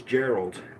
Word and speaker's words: Gerald: the town of omolo the name is Geralds like the end of the name Fitzgerald located in Eastern part